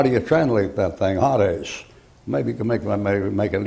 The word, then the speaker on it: Hades: When you take that and transliterate it, you get Hades. And as that's a long A in there, Hades, like that.